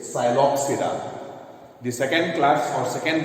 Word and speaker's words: Psilopsida: Here P is silent. P is silent. So it is Psilopsida.